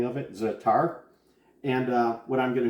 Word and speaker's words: za'atar: make great pita chips like i mentioned with zatar zatar is spelled z a with apostrophe at8r again you